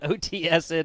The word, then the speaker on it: OTSN: If there was like an Otson or something like this that I was missing here, but OTSN it is, MonkeyMan.